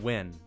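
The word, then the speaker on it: Nguyen: Steven Nen or Steven Win, that's how you pronounce his name, I guess. Steven Win. Okay, we're we're going to pronounce it correctly.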